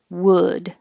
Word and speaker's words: wood: my example here but if your sounds like wooed then you maybe are rounding your lips too your tongue could be a little high wood would that's it that